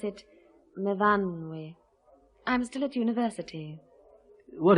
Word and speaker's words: Myfanwy: We pronounce it Myfanwy.